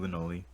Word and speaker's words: Lewnoli: Today, I have with me Lunoli. Lunoli? Is that how I pronounce it? You pronounced it right the first time, Lunoli.